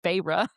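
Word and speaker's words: Feyre: I know her name's not fire. I know that's how I read, but it's but listen but listen to how close it is to fairy. Her name is Phyra.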